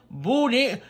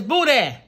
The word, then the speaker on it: boudin: be saying boudin bulldog booty it's buddha b-o-u-d-i-n buddha b-o-u boo so just say boo b-o-o boo that you gotta put